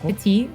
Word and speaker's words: PtitDrogo: PtitDrogo? Petit. I don't think you just don't pronounce the T.